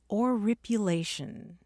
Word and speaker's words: oripulation: And here's another cool word I learned from his book, oripulation. Spell that?